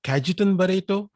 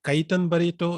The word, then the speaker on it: Cajetan Barretto: first of all let me introduce myself the pronunciation is kajiten barito some call it kaitan barito it's all fine with me i'm a toastmaster